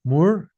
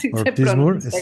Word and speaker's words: Moore: Anolina Ortiz Moore como como Da Moore y como Roger Moore, sí, así es el apellido. Ortismura, así se pronuncia.